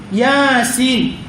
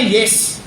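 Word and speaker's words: يس: Dari dulu orang membacanya Yasin. Dari dulu. Ya kan? Tidak ada orang yang membacanya Yes. Ya kan? Pernah ada orang yang membaca Yasin itu Yes gitu kan?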